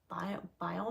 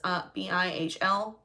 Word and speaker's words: Bihl: I are going to it's like Bio Manor. Like, I could be saying it wrong. It's Bihl Manor.